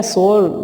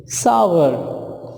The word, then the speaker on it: sour: chocolate, chocolate, sour, sour, जो wrong है सोर, ये इनकरेक्ट है, बल्कि इसका जो सही प्रोनाउंसिएशन है दैट इज सावर, सावर।